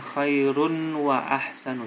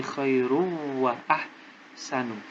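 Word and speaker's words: خير وأحسن: Bukan khairun wa ahsanu, tapi khairu wa ahsanu.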